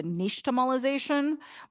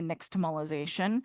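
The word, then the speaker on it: nixtamalization: So this technology, this word actually comes from the Aztec language. So it's pronounced closer to niche tomolization, but it we can say nyx tomolization.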